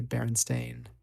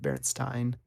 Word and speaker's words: Berenstain: spelled with an a that's why you say berenstain not berenstein oh cool i guess